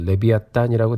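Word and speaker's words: לִוְיָתָן: 히브리어 성경을 보면 발음은 이제 레비아탄이라고 되어 있습니다.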